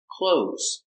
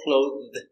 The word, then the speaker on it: clothes: Remember, pronunciation, clothes, clothes. No clothed, clothes. Same pronunciation as open and close.